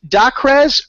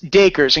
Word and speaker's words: Dacres: right it's Acres D you know like Acres like the land okay perfect we are going to talking today ladies and gentlemen Chris dakers and Chris has been